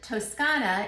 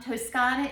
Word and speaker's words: Toscana: bronchia is the name of the winery and toscana is where it's from toscana is the same thing as tuscany toscan is